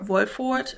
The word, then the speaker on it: Wolford: fun box I believe the brand is Wolford or voipfort as I would say in German it's an Austrian brand